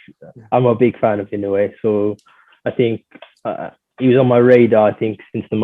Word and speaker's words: Inoue: I think I pronounced his first name right, but I know his surname is definitely Inoue.